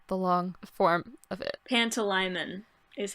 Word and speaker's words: Pantalaimon: Pantalaimon is how you pronounce it.